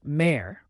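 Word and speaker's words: mère: let's start with May which means mother it's pronounced May similar to the English word Mar a mother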